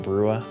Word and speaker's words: Brua: Name is Steven Brua, B-R-U-A is how it's spelled, Steven with a P-H.